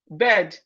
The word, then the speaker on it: bed: I know average Nigeria will pronounce these two words the same. They are not the same. The first one is B-I-R-D, bird. B-I-R-D, bird. While the second one is bed. It is not, they are not the same at all.